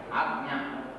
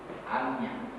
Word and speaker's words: Ajna: Agnya. That's Amya. In Bengali, Bangla pronunciation. What I can, because I read in Bengali. So, Agnya.